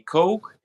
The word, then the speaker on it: coke: Вот диетическое кола, они могут назвать ее не coke, а cock.